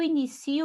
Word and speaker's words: inicio: Inicio, eu não vou acentuar porque é um verbo. E inicio, se é a sílaba mais forte, e é uma paroxítona terminada em O, então não acentua. Agora, no início já é substantivo. Início, aqui eu tenho uma paroxítona terminada em IO, né?